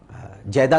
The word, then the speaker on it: جدہ: جدہ کہا جاتا ہے، لوگ اسے جدہ کہتے ہیں، جیدہ بھی کہا جاتا ہے اسے، لیکن صحیح تلفظ ہے جدہ کہتے ہیں دادی کو، اور اس لیے اسے جدہ کہا جاتا ہے کہ